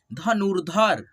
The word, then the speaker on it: धनुर्धर: आधा उच्चारित करेंगे लेकिन ध के पहले उच्चारण करेंगे, ठीक है, धनुर्धर, पूर्व, ठीक है, पूर्व,